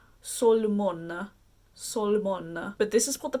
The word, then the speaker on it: Solmona: I think someone told me how to pronounce it. It's Solmona.